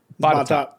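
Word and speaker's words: Botetourt: next county over, it is spelled Bautatort. Batat.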